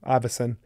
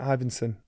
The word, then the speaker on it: Ivinson: and cry baby Johnny she said my name wrong Iverson I went ivinson Iverson no it's ivinson Iverson so bottom lips